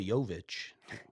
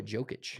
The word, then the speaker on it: Jokic: nobody can even pronounce his name correctly. So Nikola Jovic. Nikola Jokic.